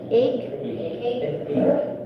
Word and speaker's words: ague: How do you pronounce it? Egg?